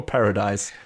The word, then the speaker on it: Paradis: What is it, Paradis or Paradise? I think they pronounce it as Paradis, and in the subtitles it's Paradise, right? Yeah, I had just assumed that it was Paradis, even though spelled. It's Paradise without the E on the end.